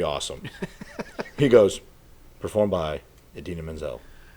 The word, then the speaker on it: Idina Menzel: He goes, performed by Idina Menzel, pronounced just like you would think. The way it's spelled.